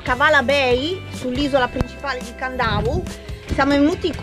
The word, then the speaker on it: Kadavu: Voici l'île de Kadavu (prononcer Kandavu).